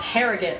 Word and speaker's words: Harrogate: So the second try of the game for Agata, a native of Harrogate, England. I hope I pronounced that correctly. That's Harrogate. Harrogate, yep.